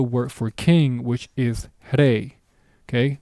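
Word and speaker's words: rey: for king, which is hey. Okay, notice the sound that I make when I pronounce that word. Okay, it's a very quick flicker, if you will.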